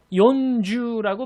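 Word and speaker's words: よんじゅう: 한글로 지금 보시면은요, 40을 말하실 땐요, 연주라고 발음하셔야 됩니다. 그러니까 요에다가 니은 받침이 들어가는 게 포인트가 되겠고요.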